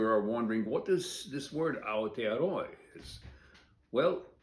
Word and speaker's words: Aotearoa: So what Aotearoa means, and you have to pronounce every vowel, and that and other Polynesian languages, means land of the long white cloud.